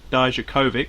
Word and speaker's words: Dijakovic: North American title against Keith Lee and Dominic Dijakovic, that's how you say it, in a triple threat, and then he lost again to Keith Lee recently.